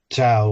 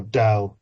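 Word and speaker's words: Tao: of the of of to or da I think is the correct way to say it uh and like how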